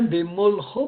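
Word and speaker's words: בְּמָלְכוֹ: Je dis bien Bemolcho parce que le A que vous avez dans le même est en fait un kamaskatan. On a parlé tout à l'heure du kamaskatan dans une syllabe fermée, non accentuée. L'accent est sur le cho. Donc on va dire Bemolcho, lorsqu'il régnait.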